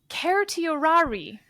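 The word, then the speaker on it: certiorari: If we're doing classical Latin my understanding is that it should actually be pronounced keriorari. Um, but nobody, literally nobody has ever said that. Keriorari. Have you ever heard that? Never heard Keriorari.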